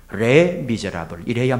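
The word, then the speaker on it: Les Misérables: 빅토르 위고의 레 미제라블, 레 미제라블 이렇게 하시는 분도 있는데요. 프랑스 말이니까 우리가 완벽하게 발음할 수는 없지만 영어식으로 프랑스 발음을 해요. 레 미제라블 이래야 맞습니다.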